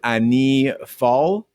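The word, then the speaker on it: année folle: some help on um i believe the pronunciation of the french is ani fall an a but yeah it's french for the crazy year so if you think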